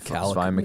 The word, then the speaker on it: Mikhailiuk: Oh, It's like Svi Mikhailiuk. Mikhailiuk?